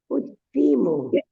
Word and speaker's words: ótimo: Ótimo. Parece ótimo. Parece Ótimo. There is an accent. There is an accent on the first O.